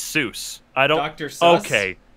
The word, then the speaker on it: Seuss: wrong yeah it says seuss intended is not soos that rhymes with zeus but soyuz that rhymes with voice source